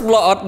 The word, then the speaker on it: blood: Oke teman, gua dapat first blood dengan sedikit kepucatan, ya kan first blood ya cara bacanya, blood ya, blood, bukan blowout ya, blowout itu blow on maksudnya, first blow on gitu ya.